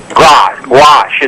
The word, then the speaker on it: gouache: Gouache. It's pronounced gouache, watercolor painting.